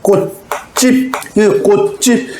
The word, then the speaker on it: 꽃집: 그럼 꽃집 요걸 결국은 이렇게 나죠. 결국은 꽃집 구두방하고 지읒 예사소리가 빵 부딪히고 꽃집 지읒이 쌍지읒으로 된소리로 바뀐다.